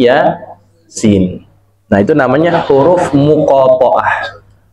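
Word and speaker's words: Yā Sīn: Jadi dibacanya bukan yasa, tapi ya sin.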